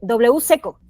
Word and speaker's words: WCeco: gran gran nombre Porque escribe wc y después la palabra eco Entonces se pronuncia de W seco correcto Así es es